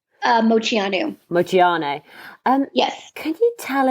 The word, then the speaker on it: Moceanu: How do I pronounce her name? Moceanu? Moceanu.